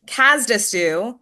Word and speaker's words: Cazedessus: Don Kazdu, did I pronounce that correctly? You got it. Nailed it. author Don Casdue joining us um on the good word this week and for this episode.